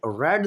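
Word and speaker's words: read: डी रीडी होती है लेकिन फर्स्ट फॉर्म को पढ़ते हैं रीड सेकंड और थर्ड को पढ़ते हैं रेड रीड रेड रेड spelling एक होते हैं सेम होते हैं लेकिन फर्क क्या होता है उसमें फर्क यह है कि पढ़ने में प्रोनंसिएशन में उसको रेड पढ़ते हैं और आर पे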